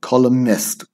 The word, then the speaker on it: columnist: forgetful imperialism cashier columnist don't forget silent and columnist columnist aggravates vintage sensitize ambience